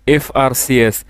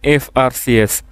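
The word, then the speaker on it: FRCS: singing a সংজ dash এফ আর সিএস হি ইজ অ্যান এফ আর সিএস এই সংক্ষিপ্ত রূপ এফ আর সি এস এর ক্ষেত্রে এই এফ টা কনসোনেন্ট হলেও এর উচ্চারণটা ভাওয়েলের মত এ কারণে এখানে এন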